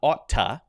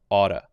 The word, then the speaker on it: oughta: pronunciation notice is not otta but it's changed to a light D sound Auda otta otta You Oughta